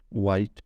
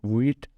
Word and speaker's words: Vite: सबसे पहले जो ज़्यादातर लोग हैं वो जो वीट का प्रोनाउंसिएशन है वो भी गलत करते हैं। ये पढ़ते हैं वाइट या वाइटी, ठीक है। ये इस तरह से नहीं है। वीट एक फ्रेंच वर्ड है जिसका मतलब है फास्ट यानी क्विक।